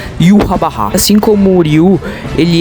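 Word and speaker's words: Yhwach: Yashim, não, se pronuncia yahá.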